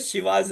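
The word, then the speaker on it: Chivas: तो यहां पर स्पेलिंग जो है शिवा की CHI लिखी हुई थी। तो हम्म। मेरा ध्यान गया कि अरे ये ची नहीं है, ये शी है।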